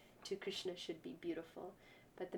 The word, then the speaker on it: Krishna: You know, there's no need to be saying Krishna. That means Draupadi. Take the time to say Krishna.